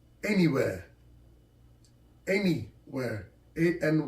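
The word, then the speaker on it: Anywear: tracksuit the logo's name is n e where pronounced anywhere anywhere a and y w e a r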